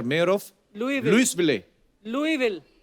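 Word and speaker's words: Louisville: of Greg Fisher mayor of लई Lewis Vile लुई will तो एस क्यों फिर लिखा है मेरे को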